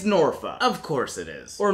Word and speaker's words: Norfolk: city name norfolk it's norfa of course it is or norfolk or norfolk or really anything other than what you just said the way it's spelled yeah that don't worry